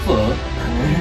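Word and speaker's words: phở: Jadi bukan po ya, bacanya full.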